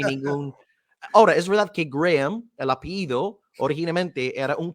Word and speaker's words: Graham: Sí, Pero ya la sabemos que... pronunciación correcta es Graham, pero claro, yo Graham. reconozco que es muy difícil fonéticamente hablando decir esto, ¿no? Así que Graham, yo me conformo con Graham, así que puede